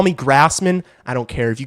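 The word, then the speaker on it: Graseman: Like, is this really what we're My last name My last name is spelled G R A S E M A N. It's pronounced Grassman.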